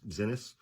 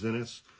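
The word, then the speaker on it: Xinis: Uh her last name is spelled X I NIS, I guess, Zenis.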